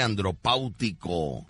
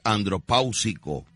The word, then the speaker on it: andropáusico: Dice por acá, Víctor, no se dice andropáutico, lo correcto es andropáusico, pero andropáusico como que no es muy cómico, así como que no, Rucho está pronunciando bien, andropáusico, ¿no?